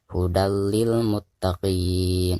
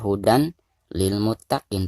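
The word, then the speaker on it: هُدًى لِّلْمُتَّقِينَ: yang ada di depannya jadi cara membacanya hudallilmuttaqin ynag Jadi bukan dibaca Hudan lilmuttaqiina tetapi suaratani disini harus dimasukkan ke huruf lam yang ada di depannya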